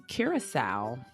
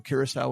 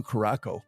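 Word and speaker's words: Curaçao: And I used to think it was called Blue Caraco, by the way, when I bought it. Oh, yeah. Yes. I didn't know the correct pronunciation until I arrived. And I was like, oh, I've been totally saying that wrong.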